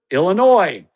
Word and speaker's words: Illinois: Deere Run in Silvis, Illinois. My home state with a silent S and the Backyard Golf Association down here in Florida where there's no S's in our state name.